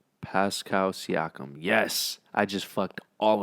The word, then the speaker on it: Siakam: While simultaneously, you can make the case that Siao, how you pronounce his last name? Pascal Siakam.